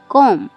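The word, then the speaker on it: comb: CUMB, कॉम। कॉम में भी यहाँ पर एम के बाद बी आ रहा है, इसलिए यहाँ पे बी साइलेंट है।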